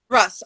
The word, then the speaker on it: Russ: Is it Russ? Russ, R-U-S-S. Russ? Right. Yes.